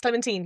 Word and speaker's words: Clementine: Clementine. Yes, Clementine. You're absolutely right. That's the pronunciation.